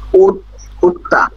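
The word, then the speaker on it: 읊다: উফতা। উফতা। রিয়েলের উচ্চারণ হবে না, শুধুমাত্র বিফের উচ্চারণ হবে, উফতা।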